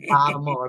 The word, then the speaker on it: Baltimore: from where right East Baltimore that would be Baltimore Baltimore you gotta say it right Baltimore Baltimore